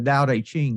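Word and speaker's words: Tao Te Ching: the same way with the da A ching that's spelled Tao t c h i n g it's the second most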